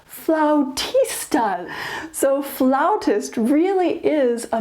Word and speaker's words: flautist: They do not pronounce it like we do. We say flautist, I believe because that's pretty close in pronunciation to the Italian word for flute, which is flauto. But they pronounce it more flautist.